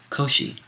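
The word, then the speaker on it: Kōshi: come to this pass kosi footnote Koshi is the Japanese pronunciation of the name of the Chinese philosopher Kung or Kung vuu whom we call confucious end of footnote and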